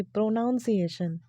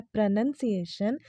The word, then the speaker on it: pronunciation: तो आई वॉज वन of them जो कहती थी कि प्रोनाउंसिएशन आई यूज्ड टू से, बट ये बिल्कुल ही गलत प्रोनाउंसिएशन है। एंड इसका जो करेक्ट प्रोनाउंसिएशन होता है वो होता है प्रोनाउंसिएशन, जिसका हिंदी मीनिंग होता है उच्चारण।